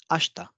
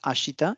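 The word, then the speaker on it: 明日: so we have these it's sounding as ashta ashta not ashita it's ashta vatakshi patakshi we all know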